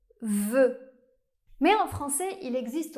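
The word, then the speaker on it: vœu: Ou bien O E U comme dans le mot voeu.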